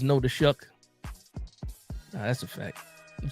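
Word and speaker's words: Shough: How do you get the the CK sound out of GH?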